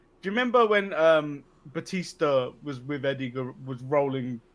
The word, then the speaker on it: Batista: it was actually how his name is actually pronounced Batista Batista yeah so I think it's one of